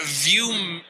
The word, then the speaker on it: ViewMagine: We got ViewMagine. Right. That's how you pronounce it.